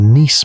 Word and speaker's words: Nice: A model that became known simply as the Nice model, pronounced in the French manner.